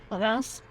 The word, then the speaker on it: Reims: So we stopped off in Reims, or Reims, pronounced correctly, on the way there and on the